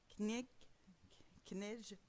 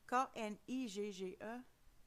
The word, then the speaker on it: Knigge: Mais en 1780, l'adhésion du hanovérien Adolf von Knigge, j'ai un problème à prononcer ce nom-là, alors K-N-I-G-G-E, 1752 à 1787.